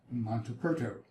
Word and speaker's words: Montaperto: Montaperto. Montaperto. Just to thoroughly bore you with this, most people want to spell it Monteperto, but it's actually Montaperto.